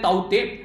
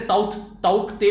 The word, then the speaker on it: ताउते: इसको बोल सकते हैं, बेसिकली म्यांमारी भाषा में इसको बोलते हैं ताउते, ठीक है, वैसे ताउते बोलिएगा, प्रोनाउंस करना है इसको उस तरीके से, ठीक है, टी साइलेंट हो जाता है।